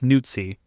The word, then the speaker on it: Nuzzi: birthday is January 6th, it's Nuzzi phonetically, which sounds wrong. Yeah, I can't think of her as anything but Nuzzy.